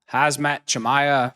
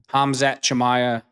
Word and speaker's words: Hamzat Chimaev: Sean Strickland, great fight between him and uh Hazmat Chamaya. I'm probably pronouncing the name wrong. You got to excuse me. Hamzat Chamaya, I should say.